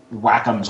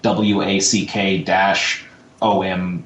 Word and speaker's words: Wacom: if it's like on Wacom's website, but there's like some sort of official thing that it actually has like a pronunciation, so it looks like WACK-OM, Wacom, or apostrophe EM, however they had it.